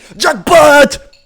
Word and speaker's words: jackpot: vas pas rester longtemps jackpot combinaison gagnante qui déclenche un mécanisme envoyant au joueur l'argent accumulé dans une machine à sous cet argent je l'ai mal prononcé c'est jackpot voilà jacobin dominicain membre de